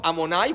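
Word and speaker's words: אדני: Yud, ça se prononce Amonai, comme le tétragramme, mais c'est écrit différemment.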